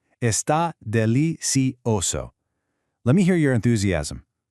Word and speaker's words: delicioso: Notice the soft C pronunciation in delicioso. It sounds just like an S. Está delicioso.